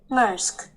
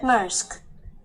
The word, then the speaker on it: Maersk: Maersk. That's it? Maersk.